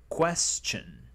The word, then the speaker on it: question: Question. Es como un ch, como un che. Esa ST suele sonar como una ch question, question.